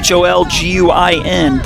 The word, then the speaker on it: Holguin: first base bag on a freebie Holguin hol guin pronounced Holguin and she'll swing at pitch number two's